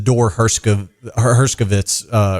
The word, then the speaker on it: Dor Herskovits: Explain to our listeners how that's different from, the Dor Herskovits record. First of all, thank you for pronouncing my name right.